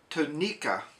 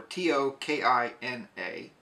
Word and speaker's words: Tokina: what I purchased so what I picked up here was a tonika or t o k i n a tokina tonika tokina however you want to pronounce this but it is